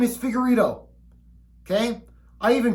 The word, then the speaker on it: Figueiredo: that the Brazilians speak is it Figueredo am i questioning my own last name after 30-plus years no it's figure Ito pronounce it right okay and if the